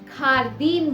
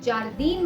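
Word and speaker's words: jardín: जैसे इस वर्ड में इसे खारदीन बुलाया जाएगा, अगर आप इसे जारदीन बोलेंगे तो ये गलत होगा। खारदीन, खारदीन, होता, खारदीन।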